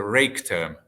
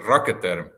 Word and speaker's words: Raketerm: In English, it's a rake term. Yeah, many people pronouncing it like a rake term, but actually we would prefer rocket term.